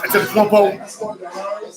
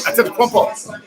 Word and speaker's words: Antetokounmpo: For those who don't know what I'm talking about Giannis Antetokounmpo, the dazzling forward center for the Milwaukee Bucks from Greece.